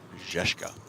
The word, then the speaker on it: Zizka: I officially went up to Martin Cabral and got the correct pronunciation. Zizka.